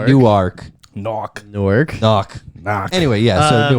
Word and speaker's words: Newark: so in newark new jersey we're gonna say new arc knock newark knock knock will work so newark